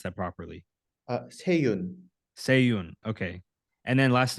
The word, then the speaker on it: Sea-Yun: How do I pronounce that properly? Seyun.